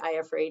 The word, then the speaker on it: Iafrate: thanks for having me in English I just say I afraid it's the easiest way to pronounce it and in Italian it's